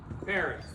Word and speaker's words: Paris: million went to where Paris we don't pronounce the S the beautiful romantic City